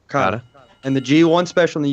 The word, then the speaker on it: Okada: Okada.